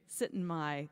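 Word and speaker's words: Syttende Mai: the audiences after shows, there's this festival called Sittenmai. Okay, so tell me how to pronounce it correctly. Sittenmai.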